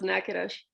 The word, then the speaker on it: Natchitoches: It's pronounced Natchitoches.